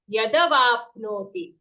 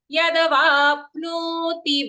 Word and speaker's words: यदवाप्नोति: Yadavapnoti. Yadavapnoti va and pno both long.